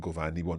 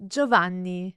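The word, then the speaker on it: Giovanni: and we don't want goani we want so let's hear how that would be pronounced joani joani can you hear an i in there don't think so let's say one more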